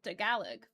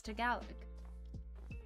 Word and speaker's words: Tagalog: No, it's Tagalog. And I know how to say it.